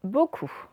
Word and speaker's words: beaucoup: Donc, nous avons le O qui s'écrit E-A-U, donc première syllabe. Bon, autrement, OU, vous connaissez. Deuxième syllabe, avec une lettre muette à la fin. Et donc, ça nous fait beaucoup.